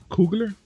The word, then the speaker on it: Coogler: And this is coming from Ryan Coogler, if I'm saying it right.